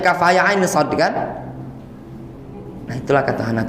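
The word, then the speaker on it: كهيعص: Ada yang baca kaf haya ain sod itu kahaya asod dibacanya. Kahaya asod. Berarti kan tidak baca. Kalau tidak tahu itu tadi kan bacanya kaf haya ain sod kan?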